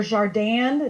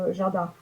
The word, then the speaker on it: jardin: écrit le jardin d'été, ils vont dire le jardin d'été. Parce qu'ils vont prononcer le N en Hmm.